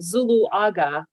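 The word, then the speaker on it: Zuluaga: correctly man no problem my last name is actually pronounced zulu aga just how it's spelled zulu yeah luaga thank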